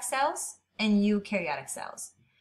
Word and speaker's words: eukaryotic: some ribosomes that's it eukaryotic cells you rhymes with do and you have eukaryotic